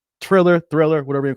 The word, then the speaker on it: Triller: to talk first about thriller triller thriller whatever you call it i don't know i know i'm mispronouncing it there's no h in there but hey it is